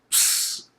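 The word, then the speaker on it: ψ: Lastly, okay, this is the ps sound. It's a PS, as in lips.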